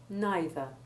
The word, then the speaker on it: neither: which should know better, the common words either and neither pronounced in an American way with a long E1 sound so as to rhyme with breather, but this is best avoided.